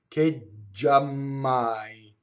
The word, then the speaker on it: giammai: Giammai. See, notice J. I stop phonation for J. Ggiammai.